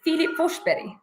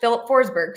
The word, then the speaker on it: Filip Forsberg: it's Philipe forso yeah is it philli or Philipe it's in Swedish the pronunciation is Philip fber but in English Philip forsberg so he goes by